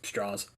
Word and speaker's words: Strauss: he pronounces it's spelled it's spelled Strauss but it's straws okay all right man